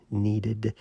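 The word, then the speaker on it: kneaded: I do that with this needed eraser that's spelled k NE a DED needed eraser because you can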